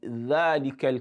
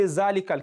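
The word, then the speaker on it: ذلك: Don't say zalikal kitab. That is wrong. It's not zalikal kitab.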